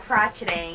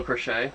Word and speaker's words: crochet: which looks more fun crotcheting it's not crotcheting what is it how do you pronounce it it's cross stitching oh cross stitching middle crochet crotchet crochet oh crochet this is embroidery cross